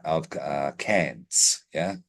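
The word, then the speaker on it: Cairns: of C of uh cans yeah y yeah and that's can's Australia it's spelled c a i r NS but we said down here cans have to specify that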